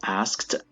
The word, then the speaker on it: asked: A reporter, ask is a regular verb, asked, ed at the end, and the pronunciation of asks in the past is asked. Asked. The ed is pronounced as a t.